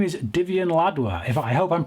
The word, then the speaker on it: Divian Ladwa: And his name is Divian Ladwa. If I hope I'm pronouncing that right, Divian.